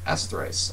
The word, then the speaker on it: essthric: I'm just correcting you a little bit. It is essthrice.